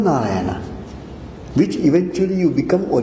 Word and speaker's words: Narayana: Do you know any similar word pronounced in a similar way like Narayana? Ramayana.